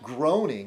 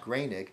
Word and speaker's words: Groening: There's Matt Groening, which is really Matt Groening.